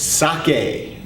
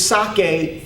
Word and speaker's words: sake: Another very familiar word of the Japanese language is sake.